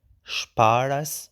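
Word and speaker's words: شپاړس: Sparas, which means 16. And sparas, be careful, the R is retroflex, so R, sparas. And here the L disappear in sparas.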